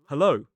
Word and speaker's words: hello: In a modern British RP accent, we would say hello. Hello. It's smooth and gliding.